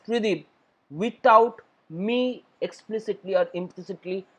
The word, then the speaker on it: Tridib: my other text-to-speech software they pronounce my name as try him this is the only text-to-speech software which actually pronounced my word perfectly as 3d without me explicitly or